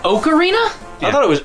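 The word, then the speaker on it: Ocarina: one of the greatest games ever made it's pronounced oakarina I thought it was okra of time that explains why you didn't like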